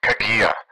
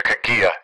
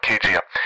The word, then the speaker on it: Kagia: annoyed with me but let me correct your pronunciation it's actually dr kagia dr kagia is how you pronounce it not kgm i've heard some similar things i actually interviewed